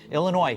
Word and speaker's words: Illinois: Indiana and New Jersey Illinois silent s I found out meanwhile